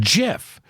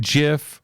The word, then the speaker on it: GIF: ways over the year I've even said jiff early on when I didn't know better and got corrected and when you get corrected and you get embarrassed you don't do it again so I've always gone gif gif but leo says jiff so what is it I'm gonna see in Twitter right now is it gif or Jif what is it I